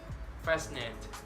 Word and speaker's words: fascinate: letter s seeing these common examples muscle sister fascinate sea snail the letter D can be selling